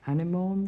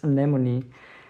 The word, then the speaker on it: anemone: For those of you who chose this card, well, I said something like anemone in the beginning, as I remember. Actually, the real pronunciation of this flower is anemone.